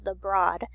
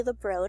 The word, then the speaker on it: The Broad: it just recently opened in 2015 it's commonly mispronounced as the broad but it's actually the broad because it's named after Mr and Mrs broad